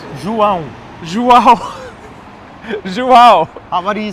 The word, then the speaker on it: João: So it's a downward motion. So, it's bow. Pão. João. Because you were saying João. João. Right, because in Spanish, usually the syllables are like up.